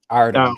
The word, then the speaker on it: Artem: to examine the Stevenson versus, how do you pronounce this man's name? Artem.